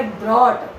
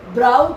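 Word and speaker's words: brought: का ये प्रोनाउंसिएशन है ये ब्रॉट, ब्राउट नहीं बोलना है, ब्रॉट, ब्रॉट, ब्रॉट दोनों सेम होती हैं, GH साइलेंट रहता है इसमें, U भी साइलेंट ही है, U, G, H ये तीनों लेटर साइलेंट रहते हैं।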